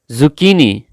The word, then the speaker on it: zucchini: Yani Kerala bitter God zucchini zucchini Turi Turi English pronounce zucchini the good pronunciation for zucchini is zucchini zucchini not zucchini it's zucchini it's the pronunciation of zucchini